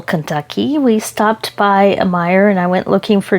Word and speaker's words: Meijer: that's called Meijer, but it's spelled M-E-I-J-E-R, but it's pronounced Meijer or something like that.